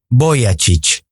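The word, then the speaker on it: Vujicic: me llamo Nick bujisic mi apellido se pronuncia Boy chic tengo 27 años y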